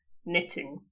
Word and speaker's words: knitting: Okay, the K is silent. Knitting.